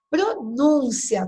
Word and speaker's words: pronúncia: Pronúncia. Qual que é a sílaba tônica? O NUM.